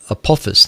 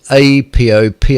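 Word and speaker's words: Apophis: going to happen there's there's an asteroid called apus now I think I'm pronouncing that right it's Latin and I hate Latin I just cannot pronounce anything that's Latin at all so just don't expect me to be able to do so but this is a p o p i s apop apus apus apus anyway who cares um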